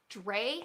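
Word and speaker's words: Drei: This is the Dre hat. That's spelled D-R-E-I, Dre hat by Ecomcrew Designs, and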